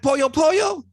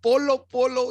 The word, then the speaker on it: Polo Polo: I was like, wow, Chappelle knows who Polo Polo is. Yeah. I mean, he didn't know the pronunciation, but he knew it was Pollo Pollo or something like that. Just Polo Polo.